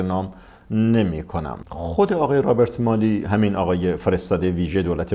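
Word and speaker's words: Robert Malley: اسرائیلی ستیزی داشته، آقای رابرت مالی که البته تلفظ صحیحش رابرت مالی هستش، ولی خب ما تو فضای جامعه ایرانی با همین رابرت، اسم رابرت مالی معانست بیشتر کردیم، من با همین تلفظ میگم.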